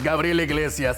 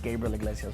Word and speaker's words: Gabriel Iglesias: This is Gabriel Iglesias. Why is he saying his name like that? Because I can say it right. It's Gabriel Iglesias, but it's Gabriel Iglesias if you can say it like that.